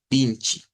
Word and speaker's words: vinte: menos la primera parte se escribe como vinte Pero se pronuncia vinchi luego esta e se